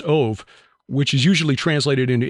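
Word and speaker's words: אוב: origin of the Hebrew word of OB but pronounced ove which is usually translated into English as Medium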